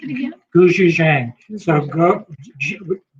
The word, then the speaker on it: gochujang: But you can sort of see the Pronounce it again. gochujang.